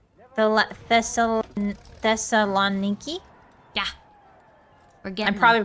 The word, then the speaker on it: Thessaloniki: going pretty well I will say the th Thessaloniki yeah we're getting I'm probably pronouncing that really wrong no that's that's more